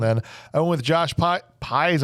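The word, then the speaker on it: Pais: I went with Josh pies I think is how you say it like size but with a p a guy played Raphael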